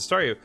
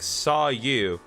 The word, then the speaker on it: Staryu: was still just a Staryu, I can never pronounce its name right. I always end up sounding like saw you.